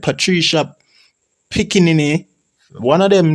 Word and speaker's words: Piccinini: Okay, so in 2016, Australian researchers and sculptors Patricia Piscinini, Piscinini, right? Patricia Piscinini, Piscinini, right? Patricia Piccinini, one of them name them.